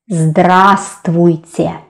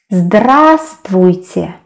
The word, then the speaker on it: здравствуйте: And as you can see, letter v isn't pronounced here.